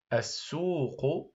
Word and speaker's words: السوق: ا السو السو السو هذه اللام هنا باللون الازرق هي لام شمسيه لا تنطق ودائما الحرف الذي ياتي بعد اللام الشمسيه يكون حرفا مشددا الس السو مد بالواو